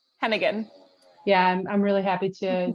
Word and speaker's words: Heneghan: how do you say your last name Hennigan yeah I'm really happy to to introduce Hennigan who's the senior strategist at the economic security